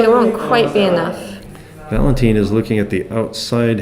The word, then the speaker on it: Valentine: Okay, they did say it's pronounced Ein. It's Valentine. Valentine, okay.